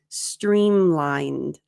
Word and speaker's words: streamlined: It's because it's not lined, but lined. Nd. Make sure you're doing the N. Nd. Streamlined.